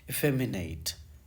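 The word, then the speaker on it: effeminate: इफेमिनेट, इफेमिनेट, ठीक है। जैसे पढ़ रहा हूँ ऐसे ही आप पढ़िएगा, एकदम आपको गूगल की आवाज़ जैसी आवाज़ महसूस होगी, क्योंकि इसका करेक्ट प्रोनाउंसिएशन यही है।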